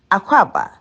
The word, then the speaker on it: Akwaaba: In Ghana language, we don't slang the word. It's said in a short way, Aquaba.